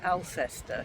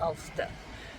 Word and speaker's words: Alcester: I've always been pronouncing it Alcester because Yeah, that's how it's they spelled. pronounce it but Ulster. It's Ulster.